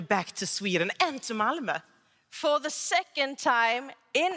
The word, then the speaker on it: Malmö: And if you're speaking English, think about the middle of the word her.